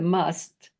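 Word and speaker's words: Mast: And we come closest to it in must. Like we say, Muhammad the Must was spelled M-A-S-T, but it's pronounced must.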